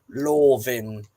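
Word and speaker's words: Lofn: So, and the other worth knowing is that the F in the middle of the word is a V sound. So, Solvin and Lovin is the correct Old Norse or Nordic pronunciation, I'll say.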